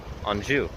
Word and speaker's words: Anjou: on through to where I am now in anju is how you pronounce it or I guess in a quebecue